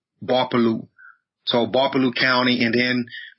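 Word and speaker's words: Gbarpolu: So my county is referred to as Barpolu, spelled with a G. The G is silent. G-B-A-R-P-O-L-U, Barpolu.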